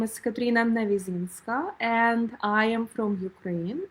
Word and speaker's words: Navyzynska: It was a beautiful introduction and you have pronounced my surname so correctly. Amazing. Katrina Nizinska.